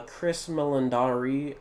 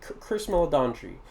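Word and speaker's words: Chris Meledandri: uh Chris mandari um I definitely pronounced that name wrong give me a quick second let me uh let me check for that name H okay I think the way that you pronounce it is Chris madon Chris melandre yeah Chris melandre is uh apparently really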